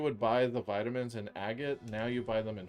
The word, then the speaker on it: Agate: Yeah, agate, I think. Yeah. Agate. You know what agate rhymes with? Bob Saget.